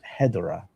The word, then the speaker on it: Hedorah: It's Hedorah.